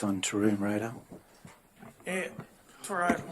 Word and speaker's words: Tyrone: Yeah, Tyrone. Tyrone. Yes. Had the emphasis on the wrong syllable.